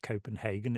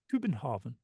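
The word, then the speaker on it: København: you can say you know actually it's not pronounced Copenhagen it's pronounced kuin Haren um which is a really useful thing to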